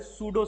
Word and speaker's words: pseudo: हाँ, P silent है इसमें।